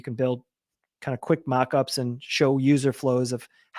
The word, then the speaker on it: Moqups: A great software program is called Mockups, but it's spelled, as you can see, Moqups.